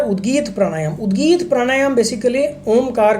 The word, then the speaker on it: ओम: देखिए, ओम का जब भी आप उच्चारण करते हैं तो ओम में 3 अक्षर होते हैं, A, U and M।